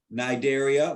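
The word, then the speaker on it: Cnidaria: nigeria is the second nigeria with a silent sea they have those pneumaticists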